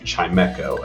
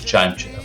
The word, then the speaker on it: Chimecho: This table is known as Chimecho. Oh, well, we call it Chimecho here. We know we're wrong. Correct pronunciations here at this table.